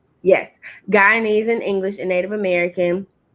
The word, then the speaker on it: Guyanese: Yes, Guyanese in English and Native American.